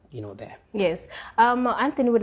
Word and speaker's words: AnthXny: It's pronounced, the name is pronounced AnthXny with an X, but spelled A-N-T-H-X-N-Y.